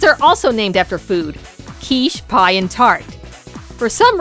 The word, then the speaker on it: quiche: For the longest time, quiche was spelled as K-I-S-H, most likely so kids would know how to pronounce it.